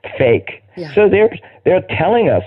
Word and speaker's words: PHEIC: And how do you pronounce that? Fake.